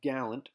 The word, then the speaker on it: gallant: It can also be a noun, and it's usually pronounced differently as a noun. Gallant.